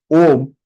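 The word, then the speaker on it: ॐ: There are people who are pronouncing this wrongly. Oma, Oma. No, it is not Oma. It is Om. O, pluth. O, O. Ma, half. So, so Om. Om.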